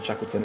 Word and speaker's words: Shackleton: I do need to pronounce that better, Shackleton. I kind of miss the T a lot in Shackleton. It sounds very odd.